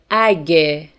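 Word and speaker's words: اگه: In spoken Farsi, we pronounce this word like age. Age.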